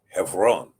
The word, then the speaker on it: Hebron: You see it spelled in the Cepher, but it's pronounced Hebron.